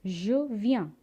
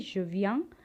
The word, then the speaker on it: je viens: So if I want to say I come, je viens. Listen to the pronunciation very carefully. Je viens, tu viens, il vient, elle vient.